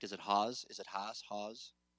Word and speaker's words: Haas: I correct is it Hawes is it Haas Haas it's okay yes Haas long a okay like the avocado avocados didn't know this